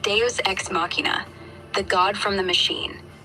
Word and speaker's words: machina: Machina. Like machina. Latin root, clean and crisp. Machina. Not machima. That's just sloppy.